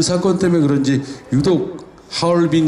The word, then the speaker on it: 하얼빈: 그 사건때문에 그런지 유독 하얼빈 이라는 이름은 중국 발음 그대로 여태까지 오히려 불러 보고 있는데 1900 운영도 10월